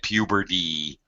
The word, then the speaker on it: puberty: When we pronounce a T which is surrounded in front and behind by 2 vowel sounds, a T or sometimes